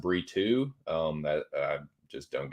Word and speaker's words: Brito: versus Joe Anderson burrito I don't know why it's pronounced burito um that I just